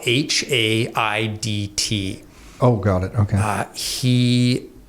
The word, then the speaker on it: Haidt: John Haidt, spelt the way you think it's spelt, the Canadian version of height? No, Haidt.